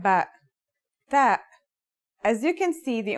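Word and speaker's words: تاء: The pronunciation is like the English T, except you should release your breath with a strong burst of air.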